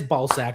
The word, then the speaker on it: Balzac: Okay, so it is Balzac. Okay, so the one time I would have had it right, thinking that I'm mispronouncing it and I'm calling it a Balzac, I actually was right.